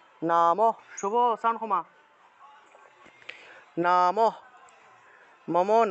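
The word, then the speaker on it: নমঃ: বিসর্গের উচ্চারণটা মূলত হ রূপে হয়ে থাকে সংস্কৃতে। তা আমরা যদি এখানে কোনো একটা লাইনের মাঝখানে যদি বিসর্গ পেয়ে থাকি, সেই ক্ষেত্রে সেই হয়ের উচ্চারণটা মূলত হসন্ত রূপে হয়ে থাকে। তাহলে উচ্চারণটা হবে নামঃ, নামঃ,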